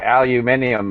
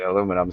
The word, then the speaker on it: aluminium: amazing aluminium that's I aluminium is the proper pronunciation of the word Alcoa I guess basically branded at aluminum so it's easier for Americans to say or something that is